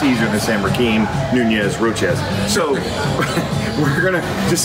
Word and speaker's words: Nunez: with our special guests Rakeem Nunez I said it wrong Nunez nacho roaches a server